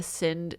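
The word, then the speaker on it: Sindh: dredged up riverbeds of the sind is how you say that s-i-n-d-h river and its tributaries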